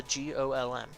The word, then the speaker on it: GOLM: Much to his surprise, this ends up being pronounced like golem anyway. On a side note, GTMCMGOLM stands for Golem Type Male, Cockney Model, number GOLM.